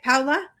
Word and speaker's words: Paola: Okay, so we have a little bit of a picture of who Paula, did I say it right? Paula?